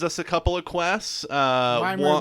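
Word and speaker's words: Wymer: Weimer like rhymes with Slimer?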